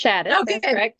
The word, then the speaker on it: Shadis: is Crystal crystal is it shadis am I pronouncing that right crystal it is it's shadis perfect I don't think I've ever even said